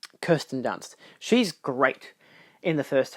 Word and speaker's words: Kirsten Dunst: But you got uh was it Kirsten Dunce or Kristen Dunst? I always forget how you pronounce her name. Um Kirsten Dunst.